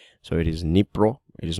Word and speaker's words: Dnipro: stand with D, but you don't use the D, or you don't pronounce the D. So it is Dnipro. It is not Dnipro, right?